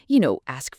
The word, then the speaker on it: ask: The key to getting ask right is to ensure that S sound comes clearly before the K sound. It's a subtle but crucial difference. Think of it as ask, not s.